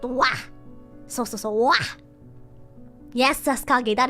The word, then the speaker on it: は: This is actually the character for ha. This is ha. So, but because this is taking on the form of a topic particle, topic marker, it actually is wa. It is pronounced wa.